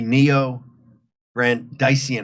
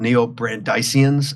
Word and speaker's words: neo-Brandeisian: I'm called a neo-Brandeisian, I guess it's pronounced, or Brandeisian after Louis Brandeis.